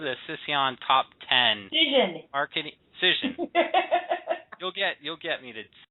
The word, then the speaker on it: Cision: So this Sission, which is a PR and marketing... Oh, Cision.